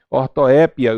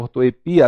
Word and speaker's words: ortoépia: de dupla prosódia tá eu tenho acrobata e acrobata a a sala a azaleia azaleia Boêmia e Boemia Então essas palavras como vocês estão vendo elas apresentam dupla prosódia a olha no caso